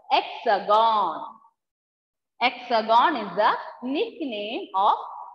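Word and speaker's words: Hexagone: having a nickname called hexagon hexagon is the nickname of france hexagon h will be silent h will be silent since h is at the beginning of this word since h is at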